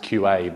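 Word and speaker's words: Kyua: got renamed QR which is meant to be pronounced QA but isn't and Kure can all now run ATF tests tap tests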